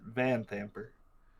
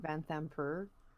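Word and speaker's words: Vanthampur: it's just different yeah the stress is apparently on the van part mm-hmm the vans are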